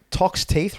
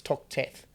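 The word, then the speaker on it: Toxteth: Tox Teeth Road? Tox Teeth Road is in Glebe. There you go. That's not how you pronounce it. It's Tox Teeth.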